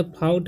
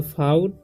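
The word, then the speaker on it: fought: ठीक, फा, OU का उच्चारण यहाँ पर आ हो रहा है। ठीक, तो फाउट आउ हो रहा है। ठीक, और GT का ट, यहाँ पर G साइलेंट है, फाउट होगा।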